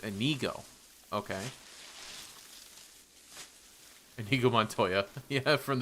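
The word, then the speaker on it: Inigo: And I don't have a problem with her, but it's also going to be it's pronounced Anigo.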